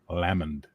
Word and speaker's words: Lamond: Lamond. Like Loch Lomond.